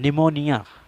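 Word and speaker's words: pneumonia: silent letters से है पीके silent होने का जाप्ता यह है कि अगर पी के बाद पैन या एस में से कोई एक हर्फ़ और तो फिर भी हमेशा साइलेंट रहता है उसको पढ़ा नहीं जाता है विशाल आपके सामने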